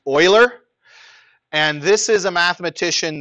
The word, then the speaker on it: Euler: But if you haven't heard of this person, it looks like it would be pronounced Euler or something like that, but it's actually pronounced Euler.